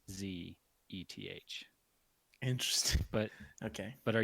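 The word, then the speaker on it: Szeth: e th e th the S is silent is okay I guess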